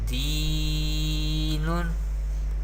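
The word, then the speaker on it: دين: there is ya sakin, and before ya sakin there is zer. Therefore ya madda rule is happening here, and we pronounce ya madda by stretching up to one alif or two harakat. And noon has tanween, do pesh. We pronounce like this, deenun.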